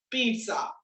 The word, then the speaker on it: pizza: This is pronounced as pizza, pizza, pizza. Pizza නෙමෙයි මොනවද පුතේ? Pizza. There is no T here.